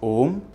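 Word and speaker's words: ओम्: When the sound A mixes with the sound E, it becomes A. When it mixes with U, it becomes O. You can try these out for yourself as a fun exercise. So yes, it is pronounced OM when you are using pranava as a word to address the divine.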